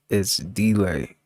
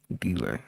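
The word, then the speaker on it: ItsDlai: It's It's delay. It's delay. It's spelled I T S D L A I. Delay.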